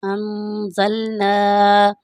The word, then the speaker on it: أَنزَلْنَا: اللہ الرحمن الرحیم۔ وَلَقَدْ أَنزَلْنَا، غنہ کریں گے یہاں پر یہاں پر نون ساکن ہے، نون ساکن کے بعد زا ہے، تو یہاں پر اس لیے ہم غنہ کریں گے۔ یہاں پر